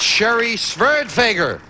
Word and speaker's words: Sherry Sverdfager: You got her name wrong. It's Sherry Sverdfager.